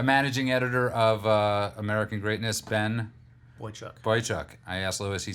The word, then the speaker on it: Boychuk: A managing editor of American Greatness, Ben... Boychuk. I asked Louis. He said I always mispronounce it anyway.